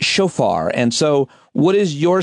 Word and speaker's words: shofar: of a traditional horn called I think it's pronounced shofar.